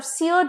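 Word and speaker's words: sear: the next what pair is सीयर एंड सीयर okay same pronunciation S ई ए आर सीयर का मतलब है burn करना कुछ जलाना स्कच करना for example grass Fyers have सियर्ड the land नियर द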